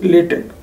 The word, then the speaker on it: LaTeX: LaTeX is written as LaTeX but pronounced as LaTeX.